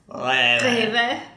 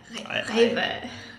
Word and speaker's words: Rewe: Can you pronounce that one? Rewe, best of all. We can do the German R's. Rewe. Rewe.